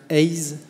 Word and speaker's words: AIS: Nous sommes un groupe de recrutement, donc c'est bien AIS, en fait, prononcé à l'anglo-saxonne.